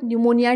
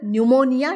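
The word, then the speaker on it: pneumonia: आपण बितले ला world न्यूमोनिया डे आता न्यूमोनिया च जी स्पेलिंग है तर ही थोडीशी लक्ष दय सारखी है बघा च्या म सुरुवात च पी हे सायलेंट असत ओके पुढे 15 नोव्हेंबर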